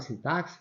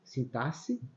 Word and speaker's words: sintaxe: o som de s essa palavra sintaxe nós podemos pronunciar sintaxe aí aí o x vai exercer o som de s e Alguns falam sintaxe em que o x Vai representar o som de KS sintaxe as duas formas são aceitadas Ok e